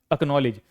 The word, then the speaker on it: एकनॉलेज: देखिए सी के बाद क्या आया है? ठीक है? एकनॉलेज। क्या पढ़ेंगे इसको? एकनॉलेज। सी को भूल जाओ आप।